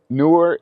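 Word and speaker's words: Neewer: And newer is how you pronounce it.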